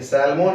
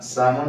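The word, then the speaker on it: salmon: ship है य य सलमन है लेकिन इसको हम सलमन नहीं पढ़ते इसको पढते एल साइलेंट होता है इस य फिश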